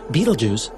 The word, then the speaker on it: Betelgeuse: supernovas literally at any moment the massive star Betelgeuse has that's really how you say it it's